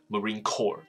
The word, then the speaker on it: Marine Corps: 我这讲到了一个是 Evergreen 是长荣，所以长荣他好像这里想交代一下长荣的立场是什么。所以这边有一个词我们要认识一下，Marine Corps。这个其实就是那个，其实在美国来说，Marine Corps 就是你整个海军的一个，我想讲成战队，可是好像也不对，军团。所以海军这个。这个军种这样子，所以这个 core 这个字 p 不发音，我要强调是这一个。那你看到文字上写的是 c o r p，可是这边的 core 是不发音的，所以这个字叫做 marine core，不是 corp。OK，好，所以他说呢，他说这个船是租来的，所以 vessel 这个词就是舰艇的概念，这个词很常见到，我在上课补习班上课也很常看到这个字，这个字叫舰艇的概念。可是因为总之 vessel 的概念是载东西，所以事实上连血管都可以用这个字来说，叫做 blood